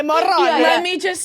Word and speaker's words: Morrone: I said it was pronounced like that, and I was told by these two I that wanna it was hear pronounced it. Morone.